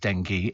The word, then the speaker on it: dengue: I contracted dengue fever, pronounced dengue, as in the clarified butter.